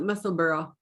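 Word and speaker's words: Musselburgh: the correct pronunciation because we have heard it as muscle burrow muscle burr muscle burg i just want to know the correct pronunciation on her video i think she calls it muscle burrow muscle burrow you know like edinburgh yeah edinburgh and there you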